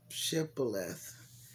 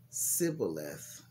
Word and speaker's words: Shibboleth: If the man said, no, I'm not, they would tell him to say, Shibboleth. If he was from Ephraim, he would say Sibboleth, because people from Ephraim cannot pronounce the word correctly.